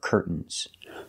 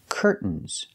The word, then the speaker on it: curtains: are curtains pronunciation curtains we have two correct pronunciations you can say curtains pronouncing the T or curtains making a stop T Curt and then fall to the N Curt curtains so the two pronunciations curtains or curtains curtains is the more more common pronunciation in American English let's practice with these